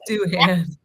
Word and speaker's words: Doohan: It's Doohan. We're glad to have you at Alpine. Shannon has an unrivaled run of not mispronouncing things.